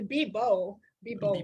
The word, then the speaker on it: Bebow: Pronounce it Bebow with the B. The B on the B, bebow. Bebow.